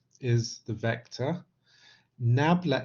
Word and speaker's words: nabla: as eva nabla or it's written as it's pronounced either as nabla or is why nabla because nabla is an